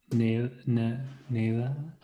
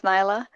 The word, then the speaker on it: Nyla: Naila? I'm sorry if I pronounced her name wrong. That's fine. It's Nyla. Naila.